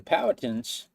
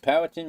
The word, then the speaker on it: Powhatan: But the Powhatans, and if you say it wrong, you can say it Powhatan, you can say it Powhatan, Powhatan. There's lots of different ways to say it, and the biggest problem,